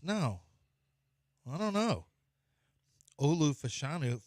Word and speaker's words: Fashanu: I don't know Olu fashanu fashanu is how it's pronounced is not Malachi Cory